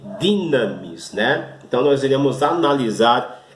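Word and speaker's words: δύναμις: E o terceiro termo é a palavra dinamis, apesar também de estar escrito dunamis, não é? Mas a forma correta de pronunciar é dinamis, que significa o poder de Deus.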